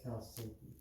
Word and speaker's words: chalcedony: I prefer chalcedony, but it is chalcedony. Chalcedony. Just remember like the name Sydney.